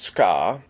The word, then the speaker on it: tsuka: The handle, known as a tsuka, sometimes pronounced ska, consists of a wooden